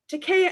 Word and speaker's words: Takei: After some pleasant conversation, including the correct pronunciation of my own name, it rhymes with okay. Takei as in okay. Takei is okay.